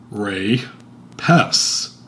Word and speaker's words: Rapes: Rapes is pronounced Ray-Pess.